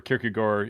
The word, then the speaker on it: Kierkegaard: obviously his uh uh kierkegaard or kyrgy gore you know if you want to go the danish pronunciation and um i one